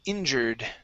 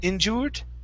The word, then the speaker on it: injured: so the UR are instead of saying injur injured okay with an o sound it's it's still just going to be an ER injured injured injured injured